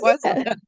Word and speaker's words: Wasial: Is that how you say it? Wassel, that was pretty close. Wasial. Yeah.